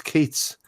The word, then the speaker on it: Keats: I'm the same with, it rhymes with Yeats, but it's Keats.